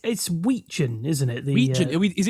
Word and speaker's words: Wetjen: So it's Wetjen, isn't it? The Wetjen. Is it? Are we going with pronunciation. Wetjen? Yeah, it's a silent T.